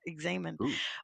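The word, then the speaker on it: examen: And you say it like that, examine, but uh yeah, it comes from this guy named St.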